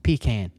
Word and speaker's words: pecan: It's pecan.